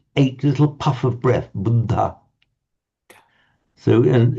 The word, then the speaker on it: Buddha: So you might hear it as buddha which the in native Indians speak say hang on that's just not wrong it's not budda it's buddha but okay that that